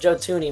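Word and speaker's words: Joe Thuney: What about Joe Tuni? Well, uh that's how you pronounce his name.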